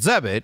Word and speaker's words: Zebit: Zebit, that rhymes with debit, believes that everyone deserves access to lifelong interest-free credit. With Zebit, you have the power to buy what you need and pay over time.